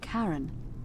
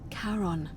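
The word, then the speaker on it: Charon: Only your pronunciation is a little off. The name you heard wasn't Karen. It was C H A R O N. As in Caron, the ferryman of the dead.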